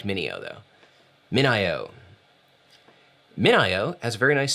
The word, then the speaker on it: MinIO: today i learned that it is not pronounced mineo it's pronounced min io which makes sense i like mineo though min io minio has a very nice six minute video